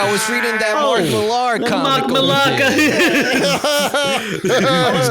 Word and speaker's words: Millar: Whoa, is that how you pronounce it? Millar? I thought it was Mark Miller. I thought it was Mark Miller too. For the longest time I did, but it's spelt Millar.